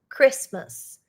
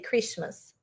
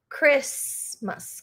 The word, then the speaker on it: Christmas: It's very hard not to pronounce the T, but we don't pronounce the T. Okay. Christmas. We don't say Christmas. Christmas. Christmas.